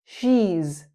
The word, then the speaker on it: she's: She is. She's She's sounds like cheese.